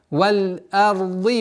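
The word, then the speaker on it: والأرض: Вот одна из самых распространенных ошибок – это твердое произношение звука хамзы. Получается валь-арди, ард, а, что является недопустимым, потому что хамза с огласовкой фатха всегда произносится валь-р.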